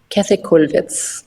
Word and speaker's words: Käthe Kollwitz: How would you pronounce her name in German, proper German? Käthe Kollwitz. Okay, so I'm way off.